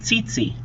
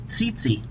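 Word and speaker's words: tsetse: there are Titi flies you pronounce it Titi Titi it causes a sleeping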